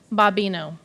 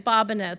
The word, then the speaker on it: Bobino: Sterling Middle School, Bobino. I practiced that last name, and I think it's actually Bobino. Thank you. Let me pronounce that again. Bobino.